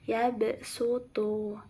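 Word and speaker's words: يبسط: ayatnya wallahu yaqbitu waabsutu secara asli kita pasti bacanya yabsutu padahal terdapat huruf Sin kecil di atas huruf shadnya jadi cara bacanya yabsutu yabsutu bukan yabsutu tapi yabsutu kemudian yang selanjutnya ada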